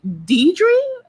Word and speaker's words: Deidre: I'm actually Deidre, but I've been called Deirdre all my life. Maybe because that's what North America and the international countries pronounce Deidre as.